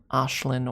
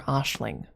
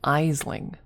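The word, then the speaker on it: Aisling: the actual name would be pronounced Ashlin or Ashling. They wouldn't be able to pronounce that. They would read it Eling.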